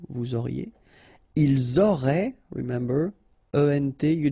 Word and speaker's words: vous auriez: Vous auriez, a Z at the end, et auriez, and then the liaison, vous auriez.